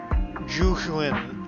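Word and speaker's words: Zhu: Juin, I think that's how you say it. It's not Zoo, it's Ju. Like Juju on that beat.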